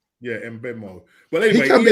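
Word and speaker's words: Mbeumo: Sometimes that can be silent, but I think you do pronounce the M on there. Yeah, M Benoit.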